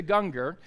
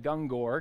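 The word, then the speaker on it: Gungor: it's Michael and Lisa Ganga and you might be familiar with the band Ganga or I always called it dung Gore cuz that's how it looks but it's not I learned it's Ganga okay it's Ganga so I'm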